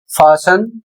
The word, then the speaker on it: fasten: इसी तरीके से अगला शब्द है एफ ए एस टी ई एन फासन और इसकी हिंदी होती है कसना या फिर बांधना।